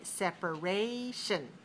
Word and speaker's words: separation: me hear you say separation separation separation has four syllables where's the stress separation third syllable so four dash three four syllables stress the third syllable separation how about